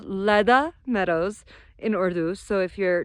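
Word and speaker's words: Le Da Meadows: your driver you want to go there, say Leda Meadows. Don't drive here on your own unless you're a super experienced off-road driver. It's spelled L-E space D-A Meadows if you want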